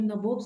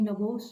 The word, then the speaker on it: nabobs: Now here nabobs I am saying that NABOBS. Now here nabobs generally was used by the English people as nawabs because they pronounced nawabs as nabobs.